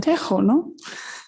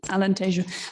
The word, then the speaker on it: Alentejo: our portuguese speaking colleagues i know i mispronounced alentejo because being here in spain i said tejono so sorry for that alan tashoe but thank you very